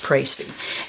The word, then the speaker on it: précis: But it's French, P-R-E-C-I-S, with an accent over the E, and it's pronounced précis.